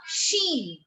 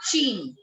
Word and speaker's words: Chine: CH sound is always sh. So we call it La Chine. It's not Chine.